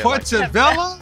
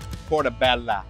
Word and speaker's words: Portobello: put to Bella yes you gotta say it like that my creative Portobello oh yes sir gotta roll the tongue a little bit Portobello Portobello su mazurtech kick